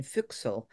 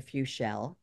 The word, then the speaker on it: Füchsel: So the name was changed to Füchsel. And it's pronounced in a way that sounds very French also.